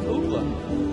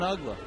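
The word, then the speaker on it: Uggla: listed as Nick Nick and it had the pronunciation spelled out UGA I was like hey everybody meet Nick Ola and so ugla just happen to be in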